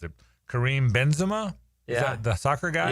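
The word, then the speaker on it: Karim Benzema: what a rube I am because I can't pronounce it. Kareem Benzema.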